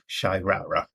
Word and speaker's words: Shyraya: And the last name I have on the list is Shyraya, and that's pronounced Shyrara.